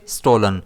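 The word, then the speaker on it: stolen: इसे हम प्रोनाउंस करेंगे स्टोलन। इसमें स्ट्रेस एस पर रहेगा।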